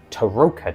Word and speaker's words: Tarokka: it's someone else has a tooka deck is how they said it. So I apparently have been saying it wrong all this time but I'll try and